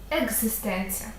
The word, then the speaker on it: екзистенція: якою є і Літера в слові екзистенція з є дзвінкем к перед дзвінким перетворюється на свій дзвінкий відповідник Ґ екзистенція тому у такому на